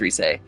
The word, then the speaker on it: Rise: It's spelled Rise, but I think it's Reese.